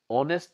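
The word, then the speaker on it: honest: ইজ এন অনেস্ট person অনেস্ট আমি উচ্চারণ করেছি কিন্তু লিখেটা কি লিখা হয় এইচ ও এন ই এস টি এটা আসলটা হব লাগে হনেস্ট কিন্তু উচ্চারণটু হছে কি অনেস্ট মানে এইচটু সাইলেন্ট আছে নীরব হয়ে আছে এই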